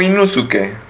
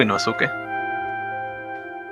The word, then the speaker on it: Inosuke: ¿Inosuke o Inusuke? Yo le digo Inosuke. ¿Por qué eres así? ¿Por qué? Pues Inosuke. La U no se pronuncia.